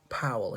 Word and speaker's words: Powell: wrought um so so paul uh paul is one pronunciation powell he pronounced it um recalled some base